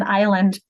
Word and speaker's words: island: And so when the Spanish asks about the S in island, that, are you ever going to pronounce it? Nope. Are you going to ever get rid of it?